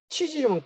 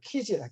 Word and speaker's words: 키질: 치질이면 큰일 나잖아요. 치질 아파서. 키즈야, 치질 아니고 키즈라, 키질이고.